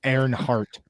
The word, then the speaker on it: Earnhardt: That's pronounced Dali Earnhardt. Oh yeah, Deli. I forgot. It's actually Earnhardt.